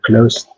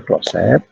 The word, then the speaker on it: closet: Water closet. Bacanya water closet atau water close? Closet, Pak. Closet. Iya, Pak.